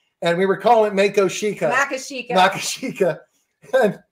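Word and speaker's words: Mako Sica: So it's Mako Shikha. Yep. Yeah, everyone everyone usually pronounces it wrong so Yeah. It it um does Mako Shikha mean bad earth?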